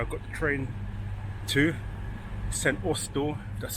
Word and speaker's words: St Austell: That's where I got the train to St. Oel. That's how you pronounce it.